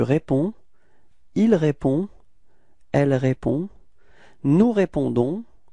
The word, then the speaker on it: nous répondons: So it's nous répondons. Repeat, nous répondons. So as usual, final S is not pronounced. Okay, so the only thing that is pronounced at the end, it's this O-N and it's on.